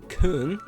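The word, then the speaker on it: Köln: to be in the city of Cologne or Kung I believe that's how they say it in uh German um and we're going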